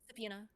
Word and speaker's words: subpoena: Subpoena.